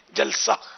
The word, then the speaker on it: جلسہ: ہاں وہی جلسہ جو جلسہ ہوتا ہے نا اسٹیج پہ, وہ الفاظ مطلب تلفظ یہی ہے, جلسہ.